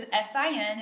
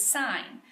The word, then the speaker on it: sine: on your calculator is SI n it's not sin its sine and sine is spelled